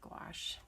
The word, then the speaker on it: gouache: is or not so I'm just going to go with gosh because it sounds like wash but only with the G and you at the